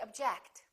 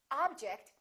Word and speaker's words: object: or do we say object again it depends on if it's a verb or a noun object is a noun that's an interesting object or verb object i object to your decision let's practice some sentences